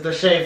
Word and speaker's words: Deshae: Why did I say his name like that? It's Deshae Frost.